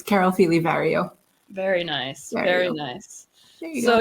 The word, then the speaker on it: Feeley-Vario: It's Carol Fely Vario.